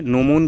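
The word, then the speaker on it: gnomon: है अगला क्वेश्चन है नोमो इज a part of ji silent है नो मोन क्या किसका पार्ट है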